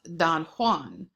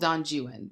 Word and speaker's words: Don Juan: original Legend is about Donan but the English poem is called djuan because the English back then and even now often decide just to not pronounce things as they're pronounced elsewhere uh just like for